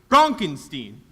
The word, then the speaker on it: Frankenstein: me that that's Frankenstein my name it's pronounced Frankenstein you're pulling my leg no